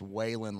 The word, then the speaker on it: Whelan: Whelan, yeah, it's spelled Whelan like Whelan Foundries here locally, so we're used to as locals saying Whelan. It's Whelan like Whelan Jennings.